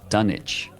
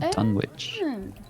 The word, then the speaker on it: Dunwich: with a w and the W was silent as in dunich not Dunwich okay I think the